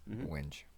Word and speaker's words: wenge: wenge or wingy or Winge. winge. Winge. Is it winge? It's winge.